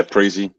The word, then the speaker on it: Preezie: Is that how I pronounce it? Yeah, Preezy.